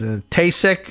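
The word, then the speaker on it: Taoiseach: Patrick's Day appearance in the White House in which the Prime Minister, we learned at one point how to pronounce the name of the office. Tasek is something like that.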